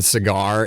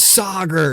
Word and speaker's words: Sager: the show oh yeah somebody kept saying cigar and they like no his name is Sager you know they were